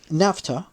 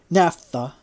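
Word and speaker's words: naphtha: be kept burning perpetually but if one poured NAFTA on the altar it would burst into flame spontaneously the people would then consider it a fire which had come from heaven Napa spelled n a p h t h a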